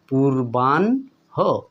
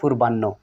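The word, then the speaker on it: পূর্বাহ্ণ: তাহলে এটা হতে পারে পূর্বানহ পূর্বানহ কিন্তু আমরা ভুল ভাবে উচ্চারণ করি অনেক সময় পূর্বান্য তাই না পূর্বানহ হবে বন্ধুরা পরানহ তাহলে এটা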